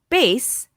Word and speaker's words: bass: is spelled b-a-s-s now this word can be pronounced bass or Bass base is a low frequency sound and a type